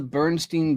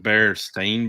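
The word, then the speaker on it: Berenstain: How all of us would usually spell it, except that it's an A in the end. So it's AIN at the end instead of EN. Like a bear stain bears. Bear stain.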